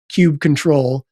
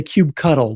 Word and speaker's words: kubectl: So I followed this similar progression where it was kubectl. And then I was like that's too many syllables. And then I learned that in some of their documentation, Kubernetes was like the official pronunciation is kubectl. But then I never got to cube cuddle.